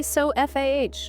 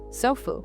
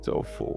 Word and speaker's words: sofa: We don't say so F-A-H. We don't. No, we put the power on the so. The end becomes the lazy schwa. Sofu. Sofu. Just a tiny relaxed at the end.